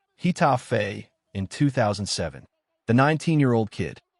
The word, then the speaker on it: Getafe: Think of Getafe, pronounce Getafe, in 2007.